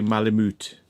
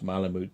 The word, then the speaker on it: malamute: really pronounce it but i think it might be malamute so it's like a moot yeah so the u